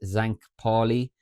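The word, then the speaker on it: St. Pauli: other um with uh I think the pronunciation is Zank Paulie there at home to Wolsburg and then Hidenheim play as well at the same time.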